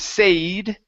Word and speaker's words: said: Instead of a, instead of said, okay, it's said, short E sound.